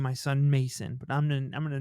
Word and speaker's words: Macin: And this is a these are Mormons, so Mason is spelled Macin, which it's some white people shit to spell names wrong, or spell names differently to be quirky.